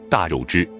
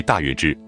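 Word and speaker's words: 大月氏: 从 50 年代以来的中小学课文中，都将大月支读为大肉支。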